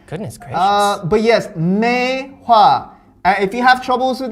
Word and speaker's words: Maehwa: sorry all right goodness chris uh but yes mei hua if you have troubles with that think of